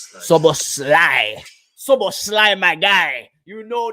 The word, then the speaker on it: Szoboszlai: Dominic Szoboszlai. Szoboszlai. Szoboszlai.